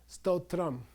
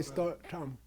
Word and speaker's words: stotram: longer a retroflex dental you pronounce the whole thing stotram okay says totram you don't say star tom okay stotram and then